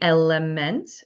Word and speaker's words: LMNT: I really like the Element, LMNT.